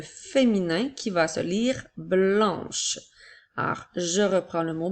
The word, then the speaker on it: blanc: Le mot blanc s'écrit B, L, A, N qui font le son en, avec la lettre C qui est une lettre muette.